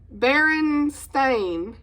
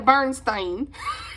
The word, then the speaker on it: Berenstain: for me okay and I didn't realize I've been saying their name wrong and I'm probably gonna Butch it do y'all remember like these people Baron stain I've been saying The Bernstein the birdstate Bears it's not right oh but that's their